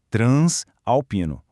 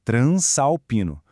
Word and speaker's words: transalpino: Então nada é de transalpino. O correto é transalpino. O S tem que se juntar ao A.